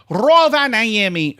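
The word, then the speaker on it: Rovaniemi: which was at the time it was in Roa Niami, and that's how you pronounce it, Roa Niami, Finland.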